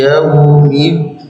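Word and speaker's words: يوم الدين: Tidak boleh iya-nya lebih lama, wawnya cepat, atau kebalikannya. Iya-nya terlalu cepat, wawnya panjang. Tidak boleh yaum. Tidak boleh yaum. Tidak boleh juga yaum. Tidak boleh. Jadi datar seperti kita bilang dua huruf. Ya, wa, yau. Jadi datar cara bacanya supaya tidak tercepatkan wawnya, itu bacanya datar saja Pak.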